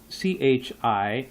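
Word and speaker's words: psi: spell that's spelled out Chi and then you have C and that's spelled out P SI I the p is silent and then you have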